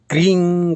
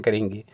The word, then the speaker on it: क्रीं: तो यहाँ हम जब क्रीं का उच्चारण करेंगे तो क्रींग या क्रीम न करके हम क्रीं इतना ही उच्चारण करें तो उचित होगा।